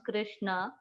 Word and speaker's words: Krishna: mantra or great mantra krishna pronounce krishna and rama rhymes with drama are sanskrit words hare